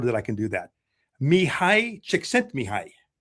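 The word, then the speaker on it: Mihaly Csikszentmihalyi: Finally, some years later, I learned how to pronounce his name, and I'm proud that I can do that. Mihai Csikszentmihalyi. Mihai Csikszentmihalyi.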